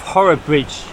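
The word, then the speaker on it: Horrabridge: so I'm now in the lovely Village of horror Bridge yeah that's how you pronounce it by the bridge here with the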